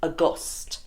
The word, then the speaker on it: august: was one word anywhere which was spelled like August but it is pronounced Auguste and now your mommy